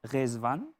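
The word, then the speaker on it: Ridvan: Ça s'écrit comme ça, R-I-D, V-A-N, mais ça se prononce autrement. Racontez-nous un peu l'étymologie de votre nom, c'est vraiment très beau. Hein? Oui, donc, comment on peut dire, ça se prononce Rezvan, et c'est un nom persan.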